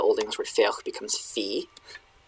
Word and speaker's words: fé: Now, here in the Old Norwegian one, we have, and I'm going to be using like Old Norse pronunciation, reconstructed Old Norse pronunciation. This is fe, fe.